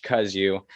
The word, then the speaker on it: Kozuch: a great guest josh kuzu not it's not pronounced the way it looks when it's spelled it's it's an interesting spelling but josh cuz you he is uh a